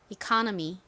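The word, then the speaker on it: economy: 이코노미 이렇게 기억하셔도 괜찮습니다 다만 강세를 잘 기억해 달라고 말씀드렸죠이 미에서 강세가 어디 있나요 이커 부분에 있습니다 따라해 보세요 eony eony 오케이 자 그리고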